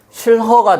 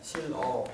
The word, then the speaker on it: 싫어: 여음이 돼야 되잖아 그죠 그래서 뭐라고 해야 돼 실허 돼야 돼 근데 우리가 실허 안 하고 뭐라고 발음해 실어 실 어라고 발했 그지네 실 어라고 발음하고 요놈을 이제 얘가 이렇게 간 거지 그러니까 실화가 된 거죠 그죠 최종적으로 이렇게 된 거야 원래 실허 가 돼야 돼요요 요놈이 요놈이 어디 가고 없지 그러니까 이제 요거는 히어 탈락이 되는 거야 이건 끌래 끌는요 두